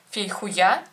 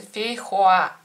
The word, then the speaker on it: фейхоа: непонятно что под названием фейхуя, ее называли всегда так, и мне мама, когда принесла, сказала: Наташа, смотри, это фейхуя. Я говорю: прекрасно. А на самом деле оно читается совершенно по-другому, она правильно читается фейхуа.